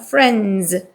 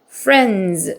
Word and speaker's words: friends: 발음 있으니까 friends 여기게 friend 아닙니다 D 발음 빼세요 그래서 friends friends 이렇게시면 돼요 How friends